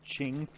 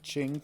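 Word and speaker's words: Qing: uh six skeins and it's ching with a q ching fiber thank you someone someone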